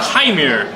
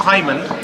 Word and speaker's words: Hymir: Oh, it's the Hymir. Not Hyman.